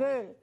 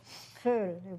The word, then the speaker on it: Vöhl: This past week, the V is an F. The sound, and most of the V words in German are pronounced with an F.